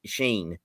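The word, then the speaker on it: Shein: Let it I think it's spelled I think it's pronounced Sheen.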